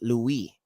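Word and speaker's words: לוי: name Louie okay and that would be Levi but it would actually in a bar would be pronounced Louie okay and Louie means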